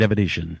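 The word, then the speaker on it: Avedisian: Jade Avedizian. Am I saying it right, Brian? Yes, Jade Avedizian.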